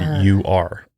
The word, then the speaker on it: Ur: It's literally spelled U-R, Ur. I think that's how you would pronounce when that.